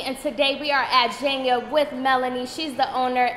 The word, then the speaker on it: Jhenya: For the people who do not know how to pronounce the name of the store, please tell them. It's Jhenya, with the J. A lot of people say Jhenya, which is completely fine, but it's Jhenya.